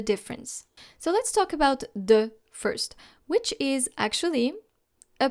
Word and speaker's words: de: And for de, your mouth is a bit more open.